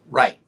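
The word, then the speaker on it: Wright: island of right but it is spelled w-r-i-g-h-t right so by the White Brothers right yeah what I'm trying to say is that people don't know how to pronounce that either because the W throws them off oh yeah you're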